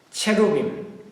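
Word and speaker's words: cherubim: 그룹 천사라고 하는 것은 케루빔, 히브리어죠. 케루빔, 복수죠. 영어로는 체루빔. 체루빔. 한글로는 그룹 천사들. 이 점이 이렇게 세 개는 우 발음이 나요. 히브리어에서. 그래서 케루빔 복수입니다.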